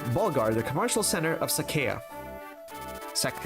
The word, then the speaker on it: Sacae: it I don't know I don't know if I want to pronounce Sakai instead of Saka like I usually do when I was a kid it's probably because I just I kept reading it in my mind in my mind it sounds like Saka like the plains of Saka not Saka okay I I guess I'll say it Sak because that's the right way to say it it